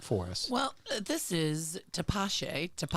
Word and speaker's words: Tepache: Well, this is Tepache. Tapache. Even though it's spelled, Tepache, Tepache. That sounds right.